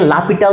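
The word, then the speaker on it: L'Hôpital: এখন খেয়াল করো এই যে রুলটা হসপিটাল রুল বা এল হসপিটাল রুল বা আমি একজনকে এটাকে লাপিটাল রুল পড়তে শুনছি। এখন হচ্ছে এটা একভাবে উচ্চারণ করে থাকে।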